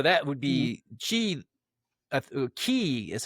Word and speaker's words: Ki: Ki is how it's pronounced in Oh, Japan, or okay.